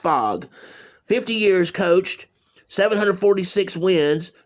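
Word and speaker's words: Phog: And that is pronounced fog.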